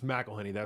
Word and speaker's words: McElhenney: I believe yeah yeah it's mcelhinney yes it's like if because if you don't know how to pronounce it we'll get there it is mcelhinney I've heard him break